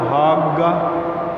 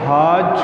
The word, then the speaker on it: حاج: حاجہ کو حاگہ، کیونکہ مصری جیم کو گاف بولتے ہیں، لکھتے جیم ہے لیکن تلفظ کرتے ہیں تو گیم. تو وہ حاج کو حاگ اور حاجہ کو حاگہ بولیں گے تو لفظ ہے حاج.